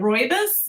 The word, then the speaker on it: rooibos: tea oh is that how you say it rooibos yes i actually saw it and i remembered